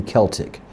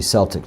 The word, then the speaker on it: Celtic: I've got to get used to saying Celtic. I'm saying both because most of the Americas are used to Celtic, but it is actually Celtic, the pronunciation.